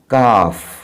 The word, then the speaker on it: calf: यहाँ पे इस वर्ड में एल साइलेंट है, तो हम इसको पढ़ेंगे इस प्रकार, काफ.